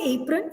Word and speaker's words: apron: Again, the problem with apron is that A has the long A sound A. So a student using Chunky Monkey may pronounce it using the short A sound, which is why apron is also incorrect.